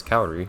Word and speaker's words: Kaori: now and i always i used to always pronounce her name chaori and i was confused why i realized but that's not how you pronounce her name and nobody else pronounces her name that way i think only the announcer and that being the announcer on this screen pronounces her name theory everyone else says kaori which i'm quite certain is the correct pronunciation of her name anyways speaking of stability